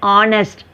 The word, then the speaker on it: honest: H you should not pronounce. An honest, an honorable man.